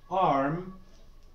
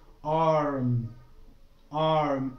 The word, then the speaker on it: arm: Also, when you end the word with M, like arm, your mouth, your lips again overlap. Okay, like arm. Arm, it's not arma, it's not arma, and so on.